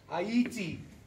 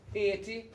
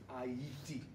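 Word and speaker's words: Ayiti: a song it's called ITI which is the original way of pronouncing the name it's not hiti or Haiti it's ATI three syllables I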